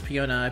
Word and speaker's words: Peony: hey I got peony I believe it's Fiona ideally someone said it's pronounced piona anyway I'm gonna be